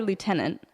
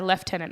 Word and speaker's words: lieutenant: So I say lieutenant. Whereas I say lieutenant. And they're actually the same word. Yeah, I recently learnt that they're spelled the same. But they are the same word. Yeah, I know. It's just different. So I think lieutenant is the British and lieutenant is the American.